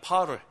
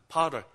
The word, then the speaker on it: potter: P-O-T-T-E-R, 파럴. 포터라 그러나요? 발음 어떻게 하나? 파럴. 하나님은 토기장이, we are clay.